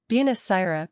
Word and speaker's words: buonasera: Buonasera means good afternoon or good evening. Pronounce it Buon-a-sera.